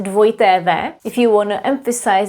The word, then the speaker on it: dvojité v: In Czech, it's dvojité v. If you want to emphasize that something is spelled with dvojité v, w.